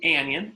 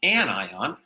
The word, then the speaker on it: anion: Anions, it's not an anion, it's an anion, are ions that have a negative charge.